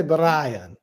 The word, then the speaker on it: Brian: I have to say Brian. You got to roll the R.